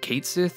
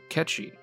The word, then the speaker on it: Cait Sith: to call this guy is it Kate Sith or Kechi the Gaelic pronunciation and lore suggests that his name is Kechi the Scottish accent we